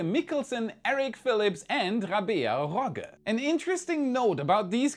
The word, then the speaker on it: Rogge: On top of that, Rabea Rogge, as you might notice I'm pronouncing this differently, will be the first female German astronaut to fly to space.